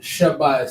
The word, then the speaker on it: Shabai: So sha, you're pronouncing the whole sha, and then so you put the single connector. And if you're not pronouncing the full ba, and you're not going ba I, you're going by. You're combining the two. You would combine the two, right?